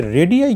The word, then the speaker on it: radii: तो ये RADII इसको बोलते हैं रेडियाई, और ये होता है रेडियस का प्लुरल।